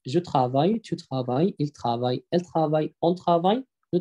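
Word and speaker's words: travaillent: إل ترافاي، آخرها أو إن تي، ما بتتنطقش. هم يعملون. إل ترافاي، هون يعملنا، آخرها أو إن تي. يبقى الدبل إل هنا لا تنطق. جو ترافاي، تو ترافاي، إل ترافاي، إل ترافاي، أون ترافاي،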